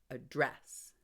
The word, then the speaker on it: address: but where's my Eraser it becomes a verb if I stress the second syllable address I need to address